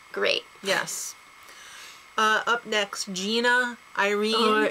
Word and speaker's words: Gina: yes uh up next Gina Irene it's Gina not Jenna we know she also